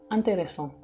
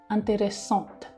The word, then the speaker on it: intéressante: Nah, keempat kalimat itu ya kalau misalnya yang feminin itu lebih ada intéressant. Kayak ada letukan di akhir itu intéressant. Kalau misalnya yang maskulin itu lebih intéressant, biasa aja dibacanya. Karena nggak ada e di belakangnya.